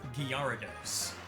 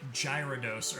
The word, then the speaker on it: Gyarados: But we're gonna go with Gyarados. I did say Gyarados earlier because that's what I said when I was a kid. And it's hard to shake those habits.